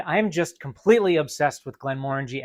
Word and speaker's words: Glenmorangie: And that's how you pronounce it, guys. Glenmorangie, not Glenmorangie, not Glenmorangie, Glenmorangie.